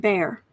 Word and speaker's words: Bexar: right doxy mom says Bexar is pronounced bear okay silent X okay a four of